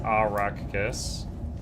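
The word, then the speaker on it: Arrakis: It's pronounced arach kiss.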